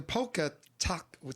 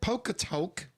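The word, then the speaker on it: Polka Tulk: know the poker the poker talk how do you say it polka talk yes polka talk blues band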